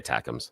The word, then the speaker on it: ATACMS: These, how do you pronounce it? Atoms? Yeah, just say ATACMS.